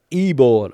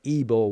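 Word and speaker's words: Ivor: The spelling was I-V-O-R, but Ibor was the pronunciation, the phonetic pronunciation that was next to Ibor's name.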